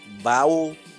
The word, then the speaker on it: bao: And I had some bao. I think I pronounced it correctly. Bao. B-A-O.